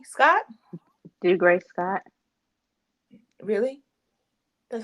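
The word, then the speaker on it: Dougray: So ultimately, you coming out and saying all of this stuff about how do you say his name? Degree Scott? Do Gray Scott.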